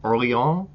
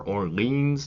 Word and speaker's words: Orléans: Today we're going to be looking at Orléans, or Orleans, depending on how you want to say it, how American you are, by Reiner Stockhausen.